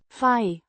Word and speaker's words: we: We means we or us, the first person plural pronoun, pronounced as fai.